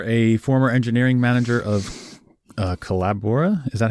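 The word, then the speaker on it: Collabora: a developer you're a former engineering manager of kelabra is that how you say that kelabra yeah Culebra you're an avid snowboarder yeah it's a well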